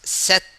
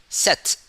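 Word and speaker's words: sept: then seven we pronounce set okay in this case we not pronounce the p but we pronounce t set for seven for number seven the spawn session is set set no no spelling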